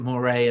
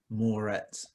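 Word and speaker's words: Mouret: yeah why is it moire and not moretz because he's french that's how you pronounce it oh like parry we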